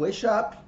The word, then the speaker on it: Weishaupt: E o que aconteceu com o Weishaupt, né? É assim que se pronuncia.